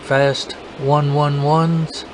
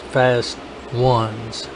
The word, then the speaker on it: Fast Ones: say fast ones they was like is it fast one one ones and I I wrote him in in the comment section I said no it's pronounced fast ones o-n-e-s ones then they got the Corvette something